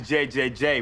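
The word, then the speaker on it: JJJ: It's actually JJ J. But the third Jay is silent.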